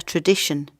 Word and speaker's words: tradition: same thing, is a tradition. A tradition takes longer to create than a custom, but they're almost the same. A tradition. Listen to the last syllable. Shun. Tradition.